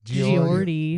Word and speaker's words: Geordie: Geordie. Geordie. Oh, yeah. GEO So- gives a Joe for show. Joe. So, Joe. Apparently, Bon Scott saw Geordie because they were pretty big, and he's all, dude, I like that singer.